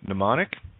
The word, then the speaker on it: mnemonic: M is silent in mnemonic, and always silent at the beginning of a word with M-N. As a side note there,